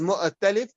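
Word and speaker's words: مؤتلف: So you read it as mu'talif and mukhtalif. You read it with a kasra.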